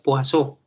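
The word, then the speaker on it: Poisson: está escrito en escritura se dice poison se escribe pero se pronuncia por eso y la tercera se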